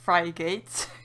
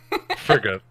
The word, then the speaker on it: frigate: That word looks like you don't pronounce it Frygate. Frigate. Saying that for the longest time, I used to think it was Frygate.